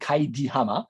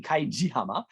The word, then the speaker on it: Kaijihama: houses was located and that beach is called Kaidihama and so if there (oh excuse me Kaijihama) and in Yonagunian that would be pronounced and if you add "ya" meaning house